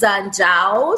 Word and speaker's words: Njau: Njau. Yeah. So my last name is Njau. So the N is silent.